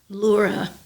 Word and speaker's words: Lura: It's spelled Lura, and it's pronounced Lura.